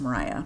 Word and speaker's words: Maria: Mariah is spelled like Maria, M A R I A, but pronounced Mariah for both their mother and sister.